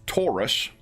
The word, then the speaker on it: Taurus: And the names are Taurus rhymes with Horus.